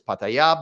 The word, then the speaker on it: Pattaya: So it's not pronounced Pattaya, by the way. For somebody who lived in fucking Thailand for enough years, she should know how to pronounce it. It's Pattaya.